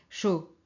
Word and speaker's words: chaud: prononciation alors archive ici c'est chaud alors chaud c'est caldo chaud on prononce pas le D final et ici chirurgien chirurgien